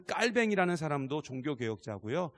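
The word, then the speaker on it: Calvin: 딸 등 입니다 뭐 칼빈 이라고 부르기도 하는데 진짜 이제 발음은 깔 병이죠 그 깔 뱅 일하는 사람도 종교개혁자 구요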